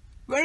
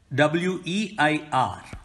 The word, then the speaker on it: weir: has been looking for you has it been where is he now he's waiting in the library